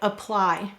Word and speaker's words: apply: However, the unstressed part explains words like apply, which are multisyllable words where you hear the I sound.